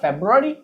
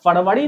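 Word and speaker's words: February: लेकिन आप इंग्लिश बोल रहे हैं तो फरवरी नहीं बोल सकते हैं, आपको क्या बोलना होगा, फेब्रुअरी। क्लियर।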